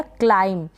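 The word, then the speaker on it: climb: क्लाइंब का मतलब है, बी जो है यहाँ पर साइलेंट हो गया, एम के बाद में है, तो क्लाइंब पढ़ेंगे।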